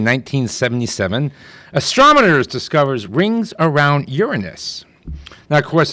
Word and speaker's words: Uranus: On this day in 1977, astronomers discovers rings around Uranus. Now, of course, that sounds a lot more funny if you mispronounce it Uranus, like most people do.